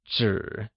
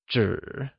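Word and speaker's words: 纸: In Mandarin, One piece of paper translates asYìzhāngzhǐ where zhǐ spoken with a falling riding tone, equals paper! Can you try saying Paper? It translates as zhǐ Wondeful!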